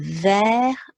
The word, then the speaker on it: vert: And then we need a silent T on the end. And so there we've got the spelling of vert.